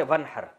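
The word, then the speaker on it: وانحر: हैं अरबी में नहर तो वन असल में था व इन हर पढ़ा जाता है मिला के वन हर तो अलिफ साइलेंट हो जाता है वन हर फसली आप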